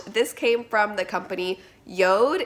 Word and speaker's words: Jord: This came from the company Jord. It's spelled J-O-R-D, but it's pronounced Jord like toad.